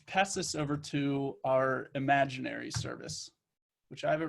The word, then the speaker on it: Imaginary: so there's a service called imagery imaginary I keep saying it wrong but it's called imaginary and I don't know